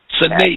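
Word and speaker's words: sine die: S-I-N-E, one word, D-I-E, Sinaidi. That's how I pronounce it, Sinaidi.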